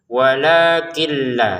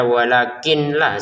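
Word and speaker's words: ولكن لا: Untuk kin di sini bertemu lam, maka masukin nunnya ke lam tanpa dengungan. Walakilla seperti itu ya. Kalau sudah dimasukin cara bacanya sudah walakilla gitu. Jadi jangan dibaca walakin la sudah karena nunnya sudah masuk ke lam. Kecuali kita baca walakin berhenti karena enggak kuat nafas maka menjadi walakin bukan walakil.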